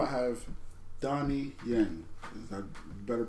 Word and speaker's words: Donnie Yen: At number 4, I have Donnie Yen. Is that better pronunciation for you guys?